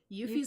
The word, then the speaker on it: Yuffie: Is it Yuffie? Yuffie's the way I've always pronounced her name, yeah.